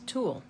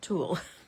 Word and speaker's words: tulle: This one is pronounced like that. Twul. You know, you learn something new every day, right? Okay. So, this is TW, not Tulle.